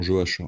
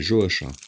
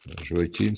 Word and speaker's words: Joachim: Alors j'insiste sur le prénom Joachim, hein. On prononce à la française. À la française, c'est Joachim, c'est pas Joachim. Joachim, ça c'est pour les Espagnols et les Portugais.